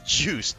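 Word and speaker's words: Juste: People had wondered about how like how to say it for years, and then the character actually appeared in the Netflix show, and they're like, "Ah, that's how you say it."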